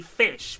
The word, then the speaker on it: ghoti: sh sound, as in station, so it's actually fish, but that was the OG internet clever bullshit wank.